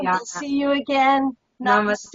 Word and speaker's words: namaste: Namaste. Namaste. Happy St. Patrick's Day. Happy St. Patrick's Day. Thank. I love it that namaste rhymes with Happy St. Patrick's Day.